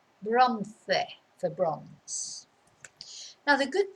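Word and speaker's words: bronce: in english we say bronze because we don't pronounce every vowel but in spanish it's bronze bronze for bronze now the good thing as you'll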